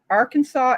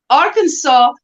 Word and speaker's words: Arkansas: for me is that Arkansas is I mean it's the same so it's the same nearly the same spelling as Kansas it is you pronounce it totally different it's like so I